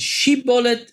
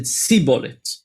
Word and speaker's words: shibboleth: And there's a plant called Shibboleth that the two tribes pronounced it in a different way. One of them said Shibboleth and one of them said Siboleth.